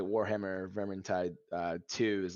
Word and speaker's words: Vermintide: they have warhammer uh what's it called warhammer vermontide vermontentide or something like that i don't know how to say it quite right but um huh vermintide vermintide thank you which is another just kind